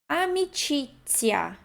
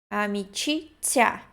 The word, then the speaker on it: amicizia: Amicizia. Esse Z, I tem um T, né? Ti. Amicizia.